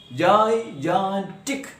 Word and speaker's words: gigantic: When pronounced the way it should be pronounced, Jan is pronounced with the most stress or force or loudness. Gigantic. That's the way it should be pronounced. Gigantic. Yes, we give more stress or force on the second syllable Jan.